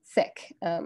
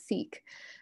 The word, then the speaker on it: Sikh: knew how to pronounce sick a lot of people were mispronouncing it as seek um and so these